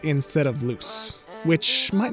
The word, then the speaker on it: Luz: such as how I spent the whole video mispronouncing the main character's name. Yeah, I called her Luz instead of Luce, which might not seem like a huge deal,